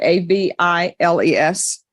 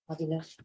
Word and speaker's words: Aviles: I guess that's how you pronounce it. A V I L E S. Aviles.